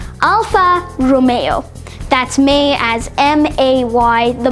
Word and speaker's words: Alfa Romeo: It's commonly mispronounced as Alfa Romeo, but this car brand was originally pronounced Beta Juliet. Nah, I'm joking. It's actually pronounced Alfa Romeo.